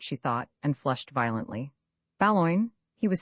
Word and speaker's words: Boulogne: Baloin is perfectly correct, the correct pronunciation, said Mr.